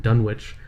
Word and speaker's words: Dunwich: probably a Dunwich or whatever, and it's like Dunwich or Greenwich or whatever. They have cute ways of pronouncing things.